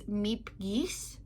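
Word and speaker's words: Miep Gies: don't speak Dutch so I looked up how to pronounce her name and I'm probably still going to get it wrong but it's Meep geese something like that I will I will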